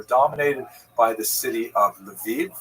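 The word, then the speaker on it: Lviv: They're dominated by the city of Leviv or Levu as it would be pronounced by people in Lichna.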